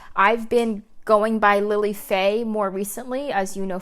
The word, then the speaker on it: Fei: I mean, Faye is too. A lot of people like to call it Phi. And then they pronounce my middle name or my Chinese name Phi Gang, which is just wrong.